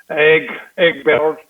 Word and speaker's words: Egberto: I want to hear you roll your R's, man. Egberto.